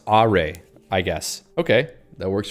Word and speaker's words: Arei: see Andrew says uh AR is pronounced AR I guess okay that